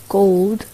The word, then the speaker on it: gold: gold. 그리고 이 L 끝소리는 리을 발음 아닙니다. gold. 저의 입모양 안에서는 혀를 아무것도 대지 않고 있어요. 그러니까 gold가 아니에요.